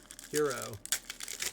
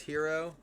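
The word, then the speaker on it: Herro: Hero. His last name's Hero.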